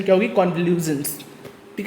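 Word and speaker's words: convulsions: इसकी correct pronunciation क्या होगी, कॉन्वल्यूजन्स, ठीक है, देख लीजिए, कॉन्वल्यूजन्स।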